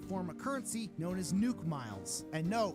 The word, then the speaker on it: Nook Miles: of currency known as nuk miles and no it's not pronounced Nook miles it's pronounced nuke miles okay shut up I'm